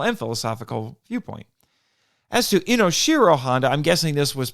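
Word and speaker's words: Inoshiro: to pronounce it properly inos Shiro isn't necessarily wrong there are video and interviews with Honda where people use inos Shiro and he's fine with it so it's possible he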